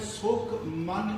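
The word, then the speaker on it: ਸੁਖਮਨੀ: उंज सीधा उच्चारण करांगे सुख मनी, ते 3 वारी सुखमनी साहिब च आया है। ते इहनूं नाणे नाल कदी नहीं बोलना, नन्ने नाल ही बोलना है।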